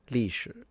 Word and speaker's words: 历史: I used to mispronounce it. For the longest time, I thought the second character was second tone, and I was wrong. It was third. So yeah, 历史.